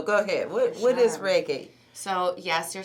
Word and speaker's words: Reiki: ahead what what is reik so yes you're saying it right it's Ray and key like a ray of sun and then a key to unlock something um it's a Japanese